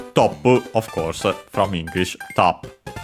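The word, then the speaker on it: トップ: Top, of course, from English, top. Should be accented also on the same, but we'll check. Of course, it refers to the top score. Yes, accented on the top, so on the first syllable.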